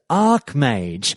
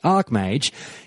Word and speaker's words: Archmage: were weighing in anyways the final call was for it to be pronounced Ark mage which is what you'll